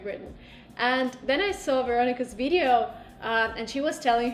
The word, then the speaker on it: Veronica: Is the right way to pronounce it in Veronica. English? Veronica. Okay, so Oh. she's a Russian speaker, but so her name is adapted to English.